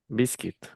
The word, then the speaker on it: biscuit: Biscuit. Biscuit, biscuit. No biscuit, biscuit. Ujú. Por la U y Sí, la tenía